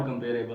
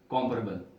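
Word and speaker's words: comparable: तो ये लफ्ज को, इस लफ्ज को सारे कंपेरेबल ही हम पढ़ते रहे हैं, but this is नॉट कंपेरेबल, this is कॉम्परेबल। लफ्ज क्या है? कॉम्परेबल।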